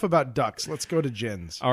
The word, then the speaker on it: Djinn: Let's go to djinns.